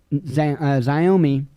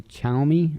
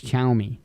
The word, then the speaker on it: Xiaomi: news chinese tech giant xiaomi and i always get there it's actually chaomi i think or something i think it's chaomi pronounced that way anyway they sue the